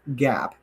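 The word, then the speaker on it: GAAP: this is what follows what's called gap g aap doesn't like mark that doesn't spell gap well that's how they say it don't beat me up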